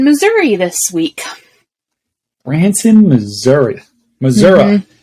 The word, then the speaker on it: Missouri: Missouri. Is that how the locals say it? It is how they say it. And when you don't say it that way, they definitely know that you are not from here.